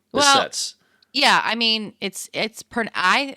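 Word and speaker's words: Behçet's: Okay, Stevens-Johnson's, we've mentioned, I think, inflammatory bowel disease like Crohn's disease, and we even mentioned Behcet's disease earlier that can cause eye symptoms like this person may have.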